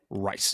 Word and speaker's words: Rhys: name pretty crazy because you think Rice is spelled Rice? No. Rhys. Rice. 0 vowels. I mean, unless you can count Y,